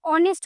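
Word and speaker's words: honest: ऑनेस्ट जो है ऑनेस्ट की स्पेलिंग तो एच ओ एन ई एस टी ऑनेस्ट लेकिन इसका जो प्रोनंसिएशन है वह ऑनेस्ट होता है।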